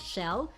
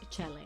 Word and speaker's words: Chele: I've been pronouncing it as shell, but apparently it's Chele, and he's quite a popular chef in the Philippines.